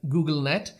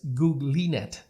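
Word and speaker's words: GoogLeNet: uh his name so even though it looks like Google net but the right way to pronounce this network is googlet okay uh so there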